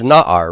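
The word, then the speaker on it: נער: Now, one of the nouns that you've learned is na'ar, right? Isn't that one of the nouns you've had? Na'ar is a youth, a lad, a boy. Notice that this has first syllable stress here, but not the double segol.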